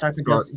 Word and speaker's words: sarcoidosis: Sarcoidosis or yes, sarcoidosis.